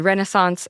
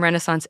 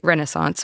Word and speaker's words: Renaissance: The Firearm Revolution from Renaissance Italy to the European Empires and I'm very sorry for how Americans say Renaissance, which is not how you say Renaissance, but welcome to the show.